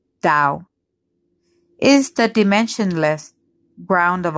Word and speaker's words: Tao: adventurer exploration and creativity the Tao a Chinese word pronounced Dao is the dimensionless ground